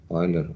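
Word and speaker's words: Euler: carried out by Oiler as I mentioned we pronounce it as Oiler although it is written as e l r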